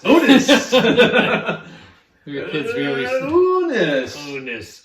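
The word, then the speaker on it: Unus: Pronounced correctly? Anus. Unis!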